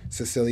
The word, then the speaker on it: Cicely: Cicely, there we go, 96-year-old.